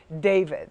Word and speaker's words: D4vd: And it's spelled D, the number 4, D4vd, but it is pronounced David.